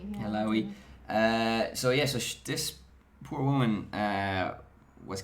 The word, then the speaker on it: Alaoui: This woman, Leila Alaoui, is that how you pronounce it? Alaoui. Yeah. Alaoui.